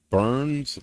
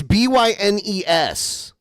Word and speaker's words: Bynes: Burns. It's Bynes.